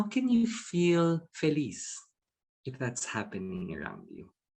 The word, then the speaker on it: feliz: i'm sure in spanish it's felice right did i say it right feliz so um exuberance is